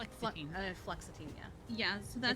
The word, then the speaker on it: fluoxetine: Oh, did you say flexitine? Fluoxetine. Fluoxetine, yeah.